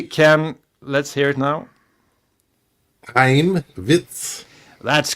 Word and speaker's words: Chaim: Yeah, Heim. Heim. Yeah, I That's how you can't pronounce pronounce.